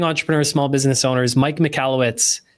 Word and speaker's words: Michalowicz: Small Business Owners, Mike Mallowitz. Mike, I hope I'm pronouncing your name right. Thanks for coming on. You nailed it, Anthony. You nailed it. Mallowitz.